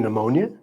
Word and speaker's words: pneumonia: We mentioned some like the K and knock, the U W in ring, and the B in thumb, the P in pneumonia.